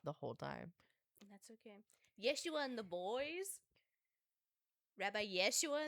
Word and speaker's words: Yeshua: Yeshua and the boys. Rabbi Yeshua and the boys. I had to forget that was actually how you said Jesus. That was how you say it before it was translated.